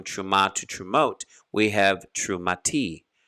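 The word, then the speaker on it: תרומה: to true we have true mati true mati which is a contraction of true ma or if you're saying it a little slower terumah we see it's a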